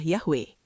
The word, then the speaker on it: Yahweh: Konsensus itu menyatakan bahwa pelafalan asli dari nama Tuhan Israel yang dituliskan dengan 4 konsonan YHWH dalam teks Ibrani sangat mungkin adalah Yahweh.